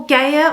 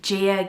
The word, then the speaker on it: Gaia: gay and then well gaia or also you can pronounce it um gia gay or whichever you know a lot of people say it differently um i like the